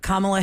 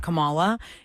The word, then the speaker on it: Kamala: Kamala Harris just ran to be the president. People could not get her name right. They call her Kamala. It's Kamala Harris.